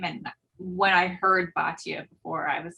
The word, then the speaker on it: Batya: Batya.